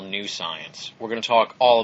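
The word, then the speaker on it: Psience: week critically acclaimed alternative science writer Marie Jones comes to the program to discuss her book science you may have heard of this one it's spelled with a p p-s-i-e-n-c-e we're going to be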